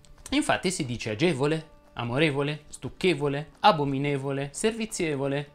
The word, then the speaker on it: agevole: algida cuore di bagni la e delle parole che terminano in evola e volee e voli e volo va pronunciata chiusa infatti si dice agevole amorevole stucchevole abominevole servizievole